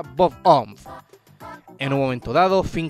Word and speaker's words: Bob-omb: El objeto bomba del juego en el que juegan Finn y Jake se pronuncia Bomboo, probablemente una referencia a la forma que se pronuncia Bob-omb.